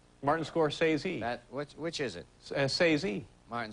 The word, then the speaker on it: Scorsese: Scorsese. Martin Scorsese.